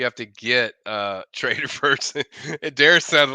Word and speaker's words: Darius: The name Darius actually derives from an ancient king from the Persian kingdom. It's actually pronounced Daryush, but y'all butchered it.